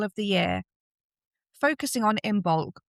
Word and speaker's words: Imbolc: Focusing on Imbulk, or as you'll later hear it pronounce, I imulk, a celebration marking the first signs of spring.